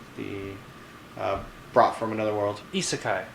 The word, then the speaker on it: isekai: Isekai. Isekai. There we go. Yeah, I've been saying it wrong for a while. There we go. It's That was good our to- last Japanese word. It's Isekai.